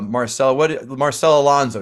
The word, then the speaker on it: Marcela Alonso: Marcela, my dear, Marcela I'm sure I get to pronounce your name right. Marcela Alonso, excuse me.